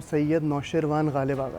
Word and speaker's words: सैयद नौशरवान गालिब आगा: Normally जो पुकारा जाता है वो गालिब आगा है, वैसे मेरा पूरा नाम सैयद नौशरवान गालिब आगा है। सैयद नौशरवान गालिब आगा, वाह क्या बात है, जबरदस्त।